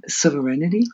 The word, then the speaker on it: sovereign: And not allow, sovereignty? Is that not? Serenity? No, sovereign. Sovereign. Sovereign. Okay, yes. That's how you pronounce it.